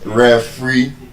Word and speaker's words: referee: In Nigeria, normally we call it referee. And the correct pronunciation is referee. The stress is on that last syllable.